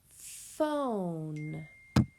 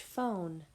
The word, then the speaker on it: phone: P-H makes the F sound. F-O-N. Phone, with that silent E at the end.